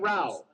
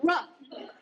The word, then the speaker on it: rough: Cutting wood all day made his hands strong and raw. One day, That's rough. spelled the same way as the other, O-U-G-H.